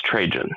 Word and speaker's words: Trajan: Is it Trajan or instated- Trahan or Trahan? Well, it could be Trajan. I should have listened to the freaking stream. I believe it's Trajan. Okay. That's how I've heard a lot of people pronouncing it. And you know what? I'm going to go out on a limb. If Ash Barker is going to call him Trajan, we can call him Trajan.